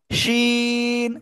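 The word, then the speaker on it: ش: সবাই পচা বলবে আপনাকে এটা হলো শিন শাসা শব্দ করবে শাসা শব্দ করে উচ্চারণ করতে হবে শিন শিন তিন আলিফ টেনে উচ্চারণ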